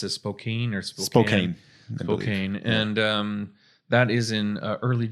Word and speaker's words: Spokane: Up in I never know how to pronounce it, Spokane. Spokane.